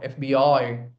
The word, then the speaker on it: FBI: stressed okay all right how do you pronounce this FBI I FBI. So very quickly you say FB FBI I put stress on the last letter. Pronounce it correctly. Drop your jaw. FBI.